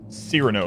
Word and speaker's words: Cyrano: It definitely looks like the Cyrano. Cyrano is how it's pronounced.